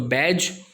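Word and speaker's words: badge: उसके बाद अगर आपको कहीं पे भी D और G वर्ड के बीच में दिखे, D और G साथ में, तो D जो है वो साइलेंट रहेगा। जैसे यहाँ पर आप देख सकते हैं बैज लिखा हुआ है, सिक्का जिसको बोलते हैं मेडल। सो बैज। उसके बाद बजट, बजट का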